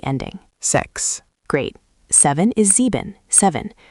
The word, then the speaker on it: sieben: Seven is sieben, seven. Sounds like sieben. Stress the first syllable.